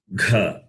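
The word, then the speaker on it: घ: The second letter is kha, and the fourth letter is gha. So aspirate.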